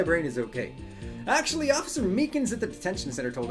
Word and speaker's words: Meekins: Actually, Officer Meekins at the detention center told us. That poor little doggy. Poor guy kept getting his name wrong. Keep calling him Makeley.